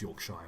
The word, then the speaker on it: Yorkshire: mispronounce English names because they always say Shire they it's not Yorkshire it's Yorkshire but whatever that's fine he